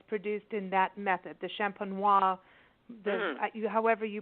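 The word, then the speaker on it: méthode champenoise: This sparkling wine is produced in that method, the champenois, however you pronounce it. Do that again. Méthode is either méthode traditionnelle, traditional method, or méthode champenois.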